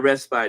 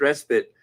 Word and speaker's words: respite: so much respite respite so it's not respite it's respite uh the E is silent thank you so much